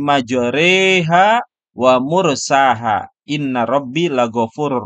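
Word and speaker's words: مجراها: Nah, ditulisnya di sini majroha. Tapi karena di sini harus dibaca imalah, maka condong ya dari harokat patah ke harokat kasrah. Maka dibacanya bismillahi majreha wa mursaha.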